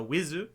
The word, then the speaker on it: With: called uh With, uh Wizu. That's how it's pronounced, even though it's With.